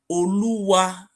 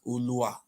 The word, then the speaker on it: Oluwa: Oluwa is the name, Wow. not Olua.